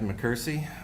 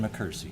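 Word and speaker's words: McKersie: Uh, my name is Mccersie. My last name is spelled M C K E R S I E.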